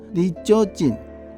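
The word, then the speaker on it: 二条城: To the Temple of Jochoniu on Gangar Hill Pronounced in Japanese as ジョジョニウ Read it backwards, it is a world heritage Nijo Castle にじょうじょう Has a history of more than 400 years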